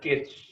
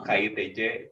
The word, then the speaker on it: KITC: Bacanya Kitsch. Bacanya Walaupun banyak yang salah ngomong KITC, tapi bacanya tuh Kitsch.